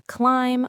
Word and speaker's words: climb: Same for climb, bomb, and the word doubt. The B is just along for the ride.